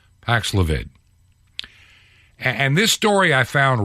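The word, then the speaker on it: Paxlovid: wnbc TV and this has to do with the new Pfizer anti-viral drug for covid Pax levit think I'm pronouncing it correctly paxlevitt p-a-x l-o-v-i-d paxilavid and this story I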